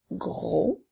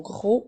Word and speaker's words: gros: continue avec le mot gros qui s'écrit gueux attention le mot gros on ne doit pas prononcer la lettre F donc le s est une lettre Muelle nous avons le mot